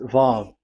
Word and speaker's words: Vav: So it's V as in Vogue. So it's really V. How to read Vogue? So the word, the shape Vav is really pronounced V, like Vogue. That is it, pronunciation. So here in this side, it's pronunciation. This is pronunciation. So according to the old Hebrew word today, those who, the owner of the word, I mean, so it's a V. So don't change it into W.